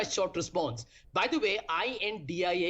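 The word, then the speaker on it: I.N.D.I.A.: By the way, i.n.d.i.a is pronounced as India for the benefit of some of your panelists who are so paranoid.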